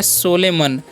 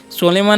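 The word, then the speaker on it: solemn: पर लिखा हुआ है सोले मन सोले मन नहीं पढ़ना है इसको क्या पढ़ना है सोलम पढ़ना है क्या पढ़ना है सोलम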